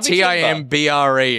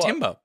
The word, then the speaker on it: timbre: sound by its overtones I was right it's a Timber t-i-m-br so what's 10 it's pronounced Timbre though oh well what the